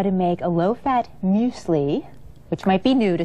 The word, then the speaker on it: muesli: to show you how to make a low-fat muesli, which might be new to some of you. Muesli. And it looks like mueslix, Now, right? I When you see it remembered that. written, but Yes. it's muesli.